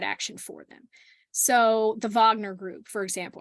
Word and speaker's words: Wagner: for them so the Wagner group for example I want to pronounce like a German the Wagner uh Wagner group uh